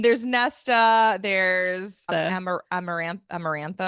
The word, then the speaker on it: Amarantha: Tamlin Tam H there's Nesta there's am amaran amarantha amarantha amarantha amarantha and I think those are the